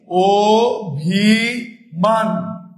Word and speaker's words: অভিমান: অভিধান নাকি অবগতি অভিমান অভিমানে আমরা যদি উচ্চারণটা লেখি ওভি মান অটা কিভাবে উচ্চারণ হল ও এর মত উচ্চারণ হল আবার অধ্যাপক অধা অধ্যা